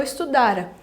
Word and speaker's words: estudara: Pretérito mais que perfeito simples, com um verbo só, é eu estudara. Gente, cuidado com a pronúncia. Estudara é no pretérito. Estudará, aí eu tenho uma alteração, aí é o futuro.